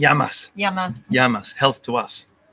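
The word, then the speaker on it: γειά μας: how do you say cheers in Greek y yamas yamas Health to us it's a very aromatic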